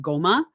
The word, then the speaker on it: Ngoma: and just pronounce it GMA it's not a g like by itself it's sort of like you form the N nasal in your mouth and then you say a g so it's GMA kind of like when